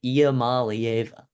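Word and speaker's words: Iamaleava: Yes, that's how you pronounce it. Iamalieva.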